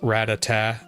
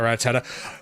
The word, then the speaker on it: Rattata: I was an adult before I realized that's pronounced Ratata, not Ratata.